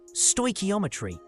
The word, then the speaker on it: stoichiometry: Stoometry pronounced stoeometry is the calculations of the quantities of reactants and products involved in a chemical reaction.